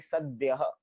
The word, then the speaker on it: सद्यः: फिर मनुजा, फिर स्मरंतः, फिर सद्यः, द्यः, जैसे विद्यालय में द्य आता है ऐसे ही सद्यः।